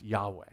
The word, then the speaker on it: Yahweh: that is the personal name of God it's pronounced Yahweh right and so it says Yahweh Elohim in